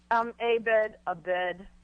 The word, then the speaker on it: Abed: Abed, sort of like tomato versus tomato.